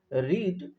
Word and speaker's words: read: রিড মানে পড়া, তার পাস্ট ফর্মও বানানের কোনো পার্থক্য নয়, কিন্তু উচ্চারণের শুধু পার্থক্য আছে। রেড বলে পাস্ট টেন্সে, কিন্তু স্পেলিং বা বানানের READ, পাস্টেও দেখো READ আছে।